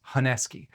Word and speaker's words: honesuki: I have looked at so many videos in how people from Japan pronounce honuki and it's heski.